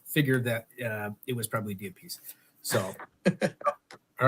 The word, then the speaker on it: DiApice: Whatever way I can pronounce it. DiApice.